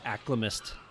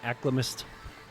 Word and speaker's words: alchemist: is okay the alchemist i used to call it aklamust all the time we call it aklamust my brother was like dude you gotta stop calling alchemist like dude you know i like to mispronounce things that's just how i